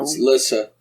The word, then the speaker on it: Lissa: hospital he's with your sister Lisa which is spelled with two s's for some reason really yes is it Le no Lissa Lissa Lissa L Lissa you got to say